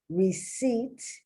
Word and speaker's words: receipt: raspberry not raspberry raspberry receipt once again just like debt the reason you have the p because it looks closer to the latin the the the the origin of the word and it's from latin and they put the p in there even though it's silent so it can look